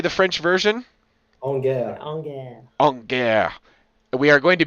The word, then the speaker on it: En guerre: En guerre.